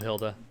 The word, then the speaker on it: Hild: Oh, Hild. Yeah, I love Hilda. Or just Hild. I try not to pronounce it as Hilda because it ends up sounding like Hilda when I say it.